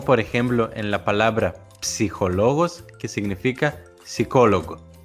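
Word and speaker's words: ψυχολόγος: Por favor, resistan a la tentación de ignorar esa P al principio, como se suele hacer en español, porque en griego se pronuncian ambas consonantes, una tras otra, P y S, que forman el sonido ps.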